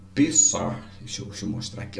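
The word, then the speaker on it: פסח: A pronúncia do hebraico é Pessar. O CH, né, dá uma articulada.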